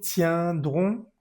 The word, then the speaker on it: tiendrons: Nous vous tiendrons. Esto es otra excepción, aunque termine en EN, vamos a decirla tiendrons.